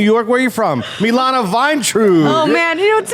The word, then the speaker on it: Vayntrub: Milana Vine.